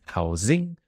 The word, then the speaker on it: housing: essentials first like housing the pronunciation is a bit weird because I live in a house but the category for rent or mortgage is housing with a zed so it's housing and food which is